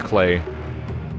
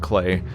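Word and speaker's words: Klei: I think it's Clay. Yeah, actually I think their website says to pronounce it like Clay.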